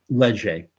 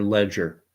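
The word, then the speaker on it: Léger: Just like Leger or Ledger poll, depending on how you want to pronounce it.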